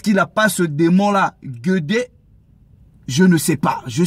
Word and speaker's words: Guédé: communiquer avec des morts, ils invoquent d'abord Guédé, pas Guégué. Donc, Guédé, ça s'écrit G-U-E accent aigu, D-E accent aigu.